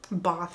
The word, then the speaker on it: Bath: Americans say Bath, but Bath, England.